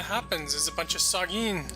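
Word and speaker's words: sahuagin: new thing that happens is a bunch of saugeen sahagan surface that's how it's pronounced i don't think like we did in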